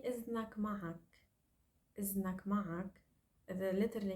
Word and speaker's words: إذن: And إذن should be pronounced in modern standard Arabic إذن. But the dal, this heavy letter dal, one of the heavy letters that we don't like to pronounce in our Lebanese dialect, such as dal, qaf, dal, we don't like these. We replace it with za.